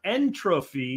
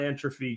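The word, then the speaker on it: entropy: okay um op 3md says it's pronounced entrophy not entrophy jack uh potentic mode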